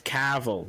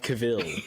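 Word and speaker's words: Cavill: every I have never it's not it's it's it's caval it's not cavil okay what I was going to say though is that Henry Henry caval uh has a funny hair I'm saying it right isn't that the right Henry Cav you're putting too much you're putting too much emphasis on the wrong salable go ahead we know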